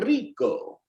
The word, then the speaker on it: rico: say que rico okay rico being pronounced rico right uh english speakers learning how to speak spanish typically start off by saying rico rico that's okay you'll still